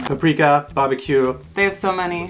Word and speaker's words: paprika: She already pronounces it the German way, paprika.